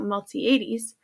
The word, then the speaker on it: Miltiades: The Athenian general Miltiades, sorry about that, I had to check my pronunciation. The Athenian general Miltiades did see he was greatly outnumbered.